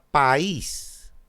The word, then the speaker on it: país: Lo mismo le pasa a país. País. Dos sílabas, la cerrada es tónica, va junto a una abierta, por lo tanto, hiato y tilde.